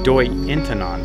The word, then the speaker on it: Doi Inthanon: mind for this doei in turn on the H is silent is not pronounced Dorian